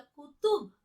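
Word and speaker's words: क़ुतुब: कैसे बोलना हमें? कुतुब नहीं बोला, कुतुब, ठीक है।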